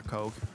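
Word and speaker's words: Koch: like, the two, like, Coke brothers, but I don't even know their names. There's Coke brothers? Yeah, but it's spelled K-O-C-H.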